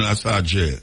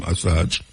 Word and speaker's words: Assange: Julian Assange, I saw him pronounce his name, Assange.